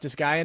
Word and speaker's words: Disgaea: I know it's pronounced Disgaea now because they say it in the game.